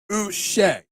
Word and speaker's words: Uche: I'm just going to say, don't call me Uche, because, why not? I'm feeling Uche today. So it's pronounced Uche.